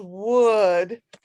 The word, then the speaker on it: would: This one is would. And it's like you would pronounce wood, like the table's made out of wood, the pencil's made out of wood.